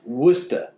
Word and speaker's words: Worcester: know about that it's it's spelled like were Chester but it's pronounced Worcester you don't know about